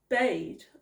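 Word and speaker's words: Bede: Century a monk named bade I think that's how you pronounce it it said b-e-d-e that is how it's spelled now he was English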